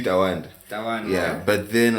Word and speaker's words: TWNDA: So it's really Tawanda. Tawanda. But then like at the time when I was setting up my Spotify, it was Kodi. I think there's another Tawanda there.